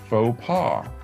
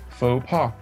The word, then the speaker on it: faux pas: not gone native english it's still pronounced like the french faux pas faux pas it's one of those